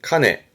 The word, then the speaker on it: 鐘: 발음은 카네.